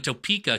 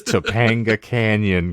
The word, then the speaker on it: Topanga Canyon: Canyon is a place I kept thinking you were mispronouncing Topeka Kansas no not Topeka Kansas it's Topanga Canyon California okay all right moreover